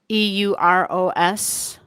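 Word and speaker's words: Eros: how it's how it's pronounced. Euros.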